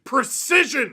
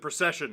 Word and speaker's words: Precision: And we have to start with a truly ridiculous one because the man's name is literally Precision, although apparently he pronounces it Procession.